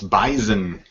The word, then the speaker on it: Bison: It's not pronounced with an S. It's Bison.